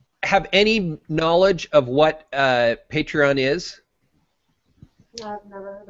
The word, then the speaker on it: Patreon: And by the way, proper pronunciation would be Patreon.